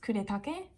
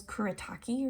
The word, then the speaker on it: Kuretake: their watercolors and for like their brush pens kuretake everyone says kuritaki or something but this is sakura the sakura